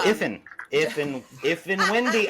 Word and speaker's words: Ifn Whendy: Is it Liffin? Laughin? So that Luffin? letter is in a capital I. Oh, Ifn Whendy.